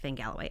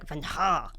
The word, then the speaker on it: Vangheluwe: And it's not even pronounced Van Galloway. It's Van Ha.